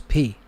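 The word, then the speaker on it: π: in ancient greek the the letter that we call pi in english is p is pronounced p p i or it would be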